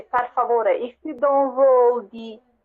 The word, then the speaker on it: per favore: Yes, it's like per. Per. So you have to roll your R's on that. Yeah. Per. Yeah, per. To be fair, if you say favore after, you say per favore.